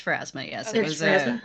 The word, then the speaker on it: Pharasma: It's Pharasma, yes. Okay. It was Pharasma? an Okay. altar to Pharasma. Because I see, I was really close. I was thinking Phasma. Phasmophobia. I was missing a syllable there.